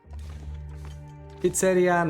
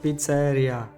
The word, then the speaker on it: pizzeria: shall try it first Pizzeria not pizza area oh I see I see the emphasis on eye right Pizzeria Pizzeria but you